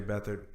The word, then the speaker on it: Beathard: Beathard, which is kind of weird because his name is spelled Beat Hard. But he goes by Beathard?